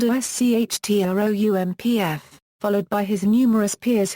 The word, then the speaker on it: Schtroumpf: La Flûte à six Schtroumpfs. Schtroumpf is pronounced like the German word "Strumpf" meaning "sock".